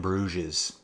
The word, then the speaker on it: Bruges: one fast flat flat Fast and Furious in brues that's how you say it folks that's how